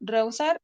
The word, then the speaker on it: rehusar: Tenemos que la H colocada entre dos vocales diptongables no impide la formación de un diptongo. Tal es el caso de estas palabras. Como ejemplo, rehusar y prohibir.